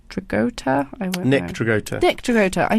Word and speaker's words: Dragotta: Yeah, and I do not know the first name, but it's Dragotta.